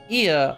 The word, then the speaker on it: Ea: Ia, I believe, is the pronunciation we use when referring to our people.